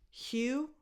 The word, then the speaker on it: Hugh: Hugh, the last two letters are silent, so it's just Hugh, a strong H, and then U. Hugh Jackman.